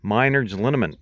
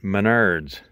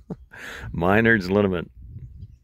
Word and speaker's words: Minard's Liniment: And he also says it's pronounced Minard's Liniment, not Menard's. So for all you Ontario boys, Minard's Liniment.